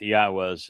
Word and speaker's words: Yahweh: more or lyrics to be sung of our king do and this begins with Yahweh's name. It begins Yahweh and that is the proper pronunciation of the name of God as directed